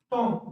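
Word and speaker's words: tomb: साइल बी के और example क्या है ये टॉम इसको टॉम भी बोलते हैं या फिर टॉम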